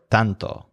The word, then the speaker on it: tanto: This represents the word tanto, which means so much. So the stress is on tan, the color of both the red spices and the butcher's skin. So you think so much or tanto.